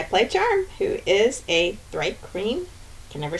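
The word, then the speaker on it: Thri-kreen: Hi, I'm Melissa, and I play Charm, who is a Thripe Green, can never say that right, Ranger.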